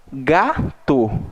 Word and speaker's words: gato: Gato. Então, eu pronuncio, né, a primeira sílaba ali, ga, recebeu uma tonicidade maior do que o to, certo?